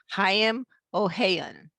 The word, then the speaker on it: Haim Ohayon: Gail Kraft here, and I have a guest with me, and his name is, and correct me if I get your name wrong, Haim Ohayon.